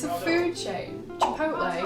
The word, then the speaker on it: Chipotle: One of these meals is called the cheesy chiplet bean. Cheesy what? Cheesy chiplet. How do you pronounce that? It's a food chain. Chipotle. Chipotle.